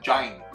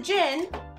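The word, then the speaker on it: Jyn: one what's your name let's see you mispronounce it jenn-air so close Jin yeah you said giant no as a Jin I don't remember where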